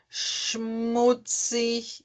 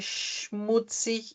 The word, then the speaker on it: schmutzig: Ahn, ele tem o som do X, tá? Por exemplo, Sprache, schmutzig. Então, ele tem o som do X, tá? Sprache, schmutzig.